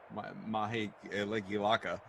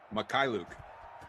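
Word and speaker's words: Mykhailiuk: maha uh whatever the mahe elekilaka it's not that hard to say makai luke thank you drew sv makai luke and uh and also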